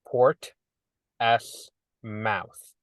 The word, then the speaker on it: Portsmouth: It's Port S Mouth. Portsmouth.